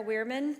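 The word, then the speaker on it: Werman: you Mr Clark thank you all right wman did I pronounce that correctly okay floor is yours just please spill your last name for the record I'm weirman w e r m an first name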